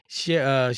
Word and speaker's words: Sherra: So look, so while Lorenzen is in the A, Sherra is Sheree, Sherra.